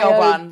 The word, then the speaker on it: Siobhan: Siobhan.